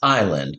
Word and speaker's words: island: So it looks like is land, but the S is silent.